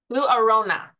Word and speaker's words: Lou Arona: Lou Arona. Did I pronounce that correctly?